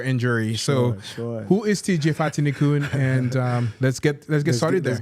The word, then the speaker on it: Fatinikun: to do a quick introduction of who TJ Fatinikun. Did I pronounce that right? You did. Fatinikun.